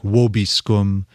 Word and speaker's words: vobiscum: Dominus vobiscum. Vobiscum, exactly. Where you say the V in classical Latin, it'd be more like vobiscum. Every C is a hard C.